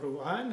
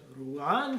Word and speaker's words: ruan: is my new lishala rule on which recently came to me from a China Chinese is a tonal language and rule on has to be pronounced with a rising tone otherwise the Lord might